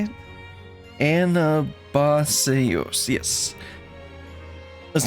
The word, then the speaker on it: Anabaseios: Anabaseios, yes.